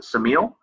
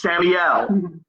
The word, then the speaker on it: Samiel: So I looked up the power of Vengeance of Samiel, and I know that you want me to pronounce it Samiel. You're wrong. It's Samiel.